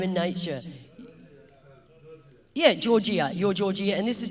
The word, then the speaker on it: Gorgija: thank you, your Gorgija, gorgeous is the way I remembered how to say it, and indeed you are, by name and nature. Yeah, Gorgija, you're Gorgija, and this